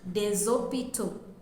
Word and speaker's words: des hôpitaux: using a definite article, we will say les hôpitaux. And the last S in les is pronounced as Z. If we are using the indefinite article in plural, we will say des hôpitaux.